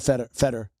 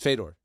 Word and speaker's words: Fedor: Oh, you said Fedor. No, it's Fedor.